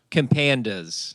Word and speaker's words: Compandas: Compandas.